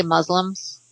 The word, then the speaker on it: Muslim: think most people say muslims muslims that's good oh well i would i would like to pronounce it for muslim it's a soft s with a long you yeah yeah Lucy that's